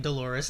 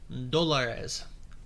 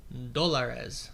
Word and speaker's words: dólares: So yeah, I was always saying Dolores, and they always laughed. And it sounds like a woman's name or something. Anyway, if I've learned my lesson correctly, the correct pronunciation is Dólares. Dólares. I don't think that's perfect, but it sounds more similar to what I'm aware of. Instead of Dolores. Dólares. So the accent is on a different section.